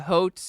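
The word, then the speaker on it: Haute: It's pronounced hot. It's fine.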